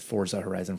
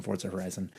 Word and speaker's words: Forza Horizon: Forza Horizon. Forza Horizon.